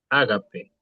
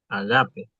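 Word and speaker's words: ἀγάπη: El primero dice ágape, No, agape. ahora sí. Agape, el acento. Porque todos estamos acostumbrados a escuchar, viste, en la iglesia, el agape. No, es agape.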